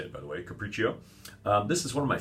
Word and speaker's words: Capriccio: that's how you say it by the way Capriccio this is one of my favorite level one